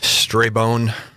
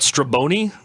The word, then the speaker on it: Strabone: to mispronounce your name what's the common mispronunciation of your name stray bone not stray bony butts turbo knee is common to stray bony strombone it gets mutilated quite